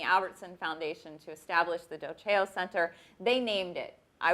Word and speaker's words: Dolce: always get is well how do you say that a lot of people say dose EO or you know I get dosey doe sometimes I don't know where that comes from it's dough Jo and it means I